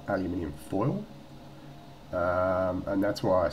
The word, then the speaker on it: aluminium: But the reason why I said about the foil, the like aluminium foil, or as the Americans incorrectly pronounce it, aluminum.